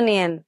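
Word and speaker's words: know: চলবো কেমনে যাই খাড়ান ওইটা কিন্তু কারেকশন কইরা নিয়েন কোনটা ওইটা তো ফায়েল না টাফেল ইংরেজি শেখাবেন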